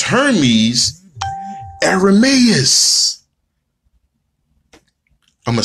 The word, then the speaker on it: Ermias: Greece, they pronounce Hermes Ermias. I'm going to say that again, and I'm going to sip. Ermias. Okay. All right. They turn the H sound into a A. So it becomes Ermias.